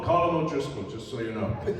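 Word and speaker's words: Colm O'Driscoll: have a pronounce it he knows how to pronounce his own name it's called a column O'Driscoll just so you know oh man just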